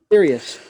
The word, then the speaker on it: Aetherius: And if I have the correct pronunciation, the Aetherius, is that right? Yeah, Aetherius Society, yeah. Aetherius.